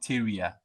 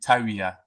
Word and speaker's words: Tyria: The Akans pronounce it Tyria, but the Gans pronounce it Taria. Okay, I get it. Yes, so it depends on who you are talking to, but generally people pronounce it Tyria.